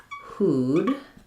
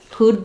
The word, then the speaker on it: who'd: So for who would becomes who'd, and how we pronounce that is just with the oo and the d sound together. Who'd like some pie?